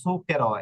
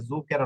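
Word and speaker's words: zucchero: স এর মত হবে এই যে দেখুন সুকের এটা সুকের হবে এটা জো কেরো না ইটালিয়ান ভাষায় ইটালিয়ান ররা কিন্তু এই ভুলটা করে ইটালিয়ান রটাকে জুকারো বলে এটা জুকারের নয় না এটা হবে সুকেরো কারণ কি নিয়মটা কি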